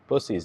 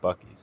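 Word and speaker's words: Buc-ee's: Bus, not buck. Yeah. Bussies, not buckies. It's bussies. I'm not saying it wrong. Y'all are saying it wrong. Buckies. Or excuse me, Buccies, right? Bus ease with a B.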